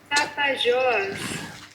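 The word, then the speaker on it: Tapajós: It is the how do we pronounce it? Let's look it up. Right, I think I found it. Tapajos. Tapajos. Let's hear it again. Tapajos.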